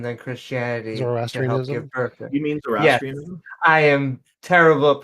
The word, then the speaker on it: Zoroastrianism: You mean Zoroastrianism? Yes, I am terrible at pronunciation.